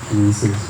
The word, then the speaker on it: Reese's: Reese's rhymes with pieces.